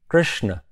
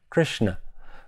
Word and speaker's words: Krishna: The word Krishna is actually in Sanskrit Krishna. The a at the end is just the full pronunciation of that last letter na, Krishna, but not Krishna.